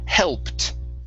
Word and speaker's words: helped: word here is pronounced helped okay edie ending instead of helping okay the ed will sound like a t helped hopes very nice helped